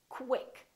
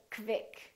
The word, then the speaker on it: quick: want you to say when we have words that are spelled with q u they're pronounced as k w so there's a little w sound in here so i want you to say quick pronounce the k w